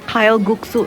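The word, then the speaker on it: 칼국수: Sebetulnya mau cobain kalguksu di Gwangjang Market yang viral banget di Netflix, tapi tutup ya udah keseberangnya. Menarik juga, mandunya ditumpuk banyak. Pronounce yang benarnya kalguksu.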